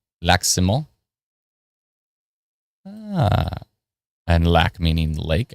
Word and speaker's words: Lac-Simon: Lac-Simon. Ah. And lac meaning lake, I'm assuming. All right. It's another squid says Lac-Simon, but the mon is pronounced through your nose. Lac-Simon.